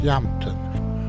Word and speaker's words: Yelmton: she doesn't know that the place name, spelt Yelmton, is actually pronounced Yampton, which you'd know if you were a Devonshire dumpling.